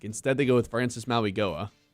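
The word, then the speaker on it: Mauigoa: Instead, they go with Francis Maui Goa. Maui Noah, I believe, is actually how you pronounce it.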